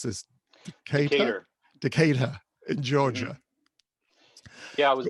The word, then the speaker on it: Decatur: You were brought up in how do I pronounce this? Decatur. Decatur in Georgia.